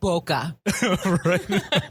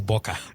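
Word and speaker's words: Boca: you say ratton I just like to call it bokeh they say it's boka where you going boka yeah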